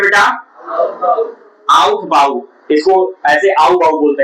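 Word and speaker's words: Aufbau: आउटबाऊ आउथबाऊ इसको ऐसे आऊबाऊ बोलते हैं लोग ठीक है ना ऐसे एफ साइलेंट है क्या है साइलेंट है तो आउटबाऊ है लिखा हुआ लेकिन इसको आऊबाऊ प्रिंसिपल बोलते हैं है ना तो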